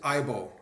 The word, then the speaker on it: IAABO: I've heard it pronounced that way, but it's officially it's IBO. I just IBO. Just IBO. The IBO. A's are silent.